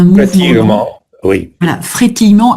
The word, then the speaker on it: frétillement: J'hésite en fait, frétillement, voilà, frétillement. Le frétillement, un mouvement lent. Pratiquement, oui. Voilà, frétillement avec le E muet au milieu. C'est un E muet.